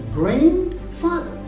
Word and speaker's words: grandfather: Grandfather. Actually, the D is not pronounced here.